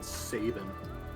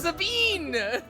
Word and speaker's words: Sabine: it's like you and Saban try to pronounce it it's Sabine it's Sabine which was just wrong open